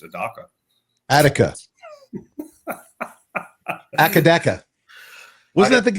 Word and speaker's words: Adaka: Then we don't have to figure out how to pronounce Adaka, even though it's pronounced Adaka.